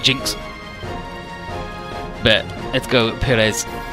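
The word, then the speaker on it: GN-X: it I'm drunk and it's the GNX pronounced Jinx but let's go Perez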